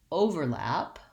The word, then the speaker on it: overlap: want to have more i'm slightly louder on the first syllable i'm going slower there's more duration there and i'm going quickly on the second syllable so for example the